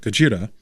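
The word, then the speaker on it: ゴジラ: week minus one warning I'm not going to mispronounce it Godzilla and pronounce it gajira and two I'm going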